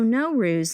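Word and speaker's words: Nowruz: Like the Persian word N O W pronounced no means new. And the word r U Z ruse means day. So no ruse literally means starting a new day.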